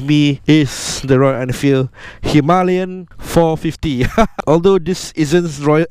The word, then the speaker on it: Himalayan: And before I continue on, the reason why I'm saying Himalayan is because that's the correct way to pronounce the word. Basically, the Himalayan is much more of a British or English kind of pronunciation, but because I've been to Ladakh and rode there on a Himalayan 411, so it's only right that I use the proper pronunciation for Himalayan.